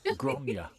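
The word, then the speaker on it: Gráinne: Gronya. And it's spelled that really funny way. It's Graininiene. One of those funny ones where it doesn't look like Gronya at all.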